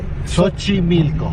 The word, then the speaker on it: Xochimilco: Xochimilco.